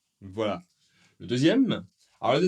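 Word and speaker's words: deux: Eh bien, en fait, le X n'est pas prononcé.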